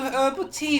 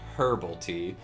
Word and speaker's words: herbal: why uh oh god the brits pronounce the h in herb but americans do not so i guess technically she should be saying herbal tea and this is gonna